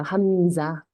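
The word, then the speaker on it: همزة: 알리프 위에 올라가기도 하고요네네 근데이 아이의 이름은 자예요 함자 읽을 수 있어요 하님 하고 자 있죠 그래서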